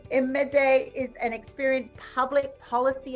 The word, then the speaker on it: Imade: Imade.